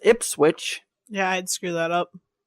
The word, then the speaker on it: Ipswich: But it's Ipswich. Yeah, I'd screw that up. It's spelt just like it sounds.